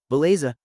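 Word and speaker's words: beleza: it's settled pronunciation tip baza sounds like bell plus lei plus zah feco is like f plus show like English show.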